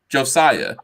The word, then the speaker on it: Josiah: Is that how you pronounce his name? Josiah, yes.